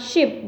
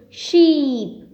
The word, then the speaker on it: sheep: last one is she this is not ship this is sheep stretch it more she and the baby